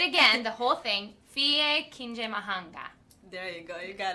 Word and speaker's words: Fille Kinyamahanga: Fille Kinyamahanga.